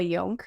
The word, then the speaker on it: Jonk: but it's just young it's and it's the J is pronounced as as a y so and there's no